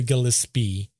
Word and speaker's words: Gillispie: It's spelled, if you look, Gillispie, but it's Mary Gillespie, in which it was correct in CBS and Unsolved Mysteries and all those.